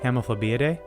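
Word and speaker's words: Hemiphlebiidae: Hemiphlebeidae? There we go. There's the accent on the first eye and not the second eye that's right next to it.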